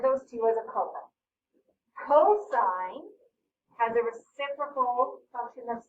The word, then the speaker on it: cosine: with it to cos some people say cos again cosine is how you say it so same amount